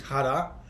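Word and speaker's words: 腹: that character, which is hara. So interestingly, that same character can be pronounced fuku or hara.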